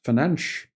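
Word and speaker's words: Fernandes: from Spanish for example instead of Fernandez it's fanch Runo fanch uh galatas and Lazio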